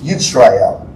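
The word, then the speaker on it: ישראל: So Israel would be Yisrael, is really how you would pronounce that in Hebrew.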